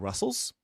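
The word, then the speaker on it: rustls: by John Ass, and he pronounces it Russell's, so I so do.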